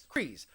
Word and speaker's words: Kryze: Kryze.